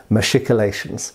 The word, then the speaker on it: machicolations: going to agree that we should be saying machicolations thanks for watching give us a like and